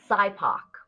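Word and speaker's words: SIPOC: what did you say it's called Sybok which is you know just another one of those geeky things that you say when you try to pronounce an acronym so let's s4 supplier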